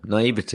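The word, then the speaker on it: naïveté: they use games and kids naivety naive what is that word you said it right first time naivete of course i did and then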